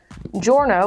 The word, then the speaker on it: Giorno: And then after that, it's Josuke, then Giorno, which is kind of funny because it's spelled with a G because he's Italian.